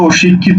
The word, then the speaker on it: শিক্ষিত: উচ্চারণ কি হবে দেখো উচ্চারণ হবে শিক খ এর শিকারে খি তকারে ত শিক্ষিত কারণ শব্দের শেষে ত